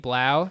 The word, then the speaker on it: 3LAU: Blau. It's pronounced like 3LAU.